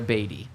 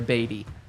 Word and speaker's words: Badie: This happened 18 months ago, and he said, "It's Tyler Badie. It's not Badie, it's Tyler Badie." But last week, I was told by someone very close to him, he decided to change the name, the way his name is pronounced. It is now Badie.